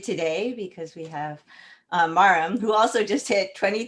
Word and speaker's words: Maram: way you like um maram is not maryam that's just a disclaimer and my name basically